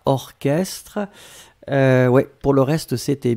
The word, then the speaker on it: orchestre: bizarre mais il existe il existe certes un mot qu'on écrit chat mais qu'on prononce que y'a pas beaucoup c'est vraiment une minorité mais ici c'est un exemple orchestre on l'écrit or chestres